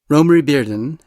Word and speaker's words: Romare Bearden: In this episode, I speak with art historian Mary Schmidt Campbell about the artist Rory Barden. Romy Barden, and yes, that is how his name is pronounced, was born in 1911 and died in 1988.